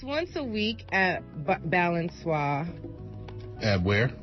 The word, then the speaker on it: Balançoire: Well, it's once a week at Balançoire. At where? Balançoire on Mission in San Francisco.